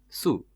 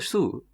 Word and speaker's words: shoe: So I know a lot of South Indians struggle to pronounce the SH sound with it, which is sh. Shoe. But in the South Indian accent, they do pronounce it su.